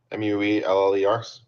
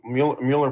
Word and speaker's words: Müller: M U L L E R. Mhler brand. Muller. Mueller brand makes the best stuff. Not sure whether they pronounce it Müller or Mueller, but either way.